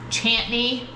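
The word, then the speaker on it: Chantenay: C-H-A-N-T-E-N-A-Y. C-H-A-N. Chan. T-E-N-A-Y. Chantney. Chantney red cord.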